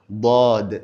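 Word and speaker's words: ض: Dod elle également est une lettre qui est lourde. C'est comme la lettre dalle mais elle est plutôt lourde.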